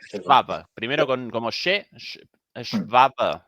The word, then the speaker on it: Schwab: Klaus Svada, No, joder. Schwab.